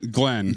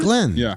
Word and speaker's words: Glenne: How do you say her name? Glenne. Glenne? Glenne. Then what's the e doing at the end? Uh, to make sure that you know that It's feminine.